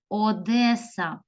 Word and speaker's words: Одеса: далі дітки Перлина у моря наша красива незрівнянна Одеса Одеса і заключаю нам значить запис цих українських